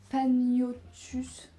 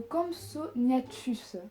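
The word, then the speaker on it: Compsognathus: Le plus petit dinosaure était le attention pour la prononciation de malade le campagnotus. Non, c'est pas du tout ça. Le campsonatus, c'est mieux le campsonatus.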